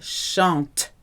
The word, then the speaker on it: chante: Il ou elle chante. Silent E and T, but a very clear T sound, chante.